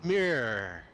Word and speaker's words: mirror: Mirror. Mirror. I'm sorry. mirror. Wits is right. Mirror. Now Yeah. say error. Mirror. Mirror. Er. Error. And mer. Now That's all we say. hear. No, it's 2 syllables.